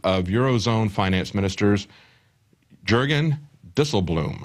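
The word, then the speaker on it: Dijsselbloem: Eurozone Finance ministers Jurgen DL Bloom I believe is the way he pronounce his name it's dutch but what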